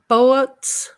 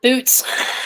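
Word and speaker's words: Boötes: the constellation, let's see, they pronounce it Boets. Trina? Boets. Thank you. Yeah. Yeah, Boets. They have those two funny little marks at the top. Are you serious? I always called it boots.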